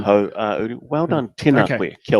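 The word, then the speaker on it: Hauāuru: Ho-a-uru. Uru is like west. Go ho and then and then uru. Ho-a-uru. Ho-a-uru.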